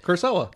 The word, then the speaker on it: Kurosawa: Kurosawa.